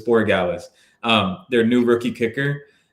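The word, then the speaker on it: Borregales: I I keep wanting to pronounce it differently, but it's Boralis.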